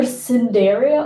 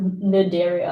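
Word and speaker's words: Cnidaria: either I'm going to not pronounce the C cuz it's either cinderia or nidaria and I'm just going to call it naria easier okay we have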